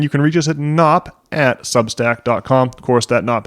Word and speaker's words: Knops: can reach us at knops substack docomo has a silent k at the beginning so it's KO o